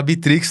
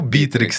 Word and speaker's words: Bitrix: Bom, é assim, Não tem problema falar Bitrix também, né? Mas a pronúncia original, digamos assim, é o Bitrix, né? Com a sílaba tônica aí no começo.